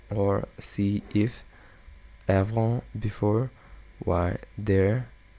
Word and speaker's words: y: Why, there. You would pronounce it E.